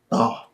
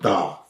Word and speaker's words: Thoth: Thoth. Spell that? Thoth. So like thought. But Thoth. God of Go ahead.